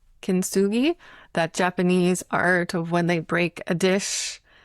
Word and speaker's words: kintsugi: So going back to the idea of failures, I love Richard Rudd points out I think it's pronounced kintsugi, that Japanese art of when they break a